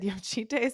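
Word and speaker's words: Jocytė: Ohema had Yosite in the press conference, but I think Xena, like the video she posted of the athlete herself, said Yoshite, so we're still in, some disagreement here.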